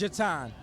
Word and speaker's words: Jutaun: know it's pretty close it's pronounced jatan pronounced it so what